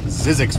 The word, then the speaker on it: Zzyzx: Road or if you want to say it phonetically I think that guy was taking a pee sizzix road so I don't know how well you